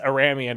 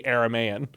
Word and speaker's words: Aramaean: spoke Aramaic, and so it must not be pronounced Aramean, it has to be Aramaean, and I just sound really dumb in that old video.